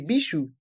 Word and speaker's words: bijoux: Et dans chaque mot, le S de accessoire et le X de bijoux sont muets.